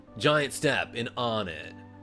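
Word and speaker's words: Onett: That's how you pronounce it, right? It's On It. A lot of people say Onet, but that's because they're from out of town, right?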